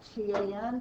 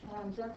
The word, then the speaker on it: tangent: going to abbreviate that t a n but pronounce it tangent not tan if we pick one